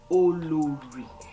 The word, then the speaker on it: Olori: Okay, so it's pronounced Olori.